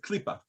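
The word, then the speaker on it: קליפה: How do you pronounce it? exactly like you did, Klipa.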